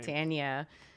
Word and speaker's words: Catania: Catania.